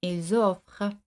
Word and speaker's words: ils offrent: c'est un peu eux un T à la finale ne se prononce pas. Ils et c'est ainsi la liaison ils offrent.